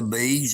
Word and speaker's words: Beas: If you're ever in the Chattanooga, Tennessee area, you can check out Bees Restaurant on Facebook. It's spelled Beas, Bees Restaurant.